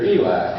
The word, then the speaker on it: Elite: And we would spell it Elite, but they pronounced it here Elite.